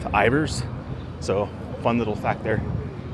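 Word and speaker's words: Ivar's: It's not Ivars. It's not pronounced Ivars. It's actually pronounced Ivers.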